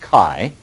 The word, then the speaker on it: chi: write a Greek symbol it's spelled Chi but it's pronounced Kai like a kite and we say it